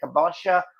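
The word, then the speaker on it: kabocha: I leave the skins on for am I pronouncing this right? Kabosha or delicata.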